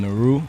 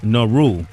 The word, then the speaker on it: Nehru: it's it n Naru how do you say it correctly man um Naru Naru yeah like the uh Pakistanian uh the Indian Prime Minister the Indian prime minister